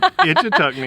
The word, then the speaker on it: Ichetucknee: Ichetucknee.